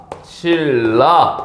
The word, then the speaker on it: 신라: 자 그럼 예를 들어서 신라 이거 어떻게 발음 됩니까 실라 요렇게 발음되는 거죠 괜찮아요 자 그러면은 이렇게